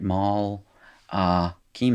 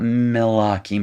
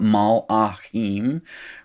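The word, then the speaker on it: מַלְאָכִים: having to do here so mel uh keem all right maul uh keem not mela king but mal akim right and i'm gonna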